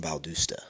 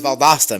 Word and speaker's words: Valdosta: are these guys from Valdusta?" You know what I mean? You know how people say, "Dude, they say it wrong. Everybody say it's Valdasta, man. It's Valdasta."